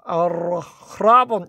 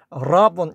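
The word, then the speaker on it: ἀρραβών: 근데 그 오디오 성경 들어보니까요, 아라본 이렇게 읽지는 않고요, 그냥 라본 이렇게 읽더라고요. 약간 아보다는 강하게 읽는데 그때 그 흡발음이 완전히 들리지는 않는데, 예, 그냥 라본. 왜냐하면 이게 전부 후음이라서 흐를 끝까지 내기가 어려워요. 그러니까 그냥 라본 정도로 하시면 되겠습니다.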